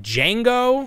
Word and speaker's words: Django: They had the aliens, but the item that had everybody talking, is it Django? Is that how you pronounce it?